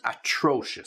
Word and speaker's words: atrocious: you are terrible and atrocious so just be careful with the pronunciation of that terrible easy but atrocious atrocious okay just to make sure you get the right stress atrocious so we often use